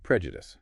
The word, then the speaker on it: prejudice: And prejudice. Stress on the first syllable. The second e is weak, often awah. The u is short.